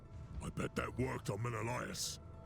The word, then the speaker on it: Menelaus: I bet that worked on Menelaus. He had just pronounced his name, and I had just forgotten, and I read that as Manolius.